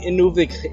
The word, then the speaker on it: Inuvik: airports in just a second we have the Inuvik airport to pronounce the name better it's airport Lake inic